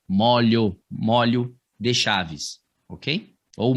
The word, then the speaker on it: molho: Esse de chaves, quando você utilizar essa palavra para indicar chaves, tem que ser com esse O aberto, tá bom? A pronúncia dessa palavra não é molho. A pronúncia dessa palavra é molho, tá bom?